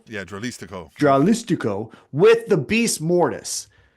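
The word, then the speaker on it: Dralístico: Dralistico? Yeah, Dralistico.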